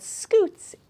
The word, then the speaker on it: scutes: The ones on the bottom are called scutes, and it helps them to scoot around on the ground, but it's spelled a little bit different. It's S-C-U-T-E.